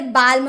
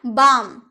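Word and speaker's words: balm: तो क्या आप लोगों ने इसे बालम बोलते हैं? नहीं ना बाम बाम यानी कि मलहम या मरहम जो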